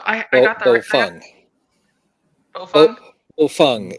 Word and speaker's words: Baofeng: Bofeng is the pronunciation. We just did a small segment of that on Workbench. Bofeng. Although some of us call it potato fang.